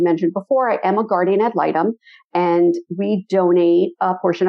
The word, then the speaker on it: guardian ad litem: you to become a guardium al item did i pronounce that right i'll guardian ad litem okay all right let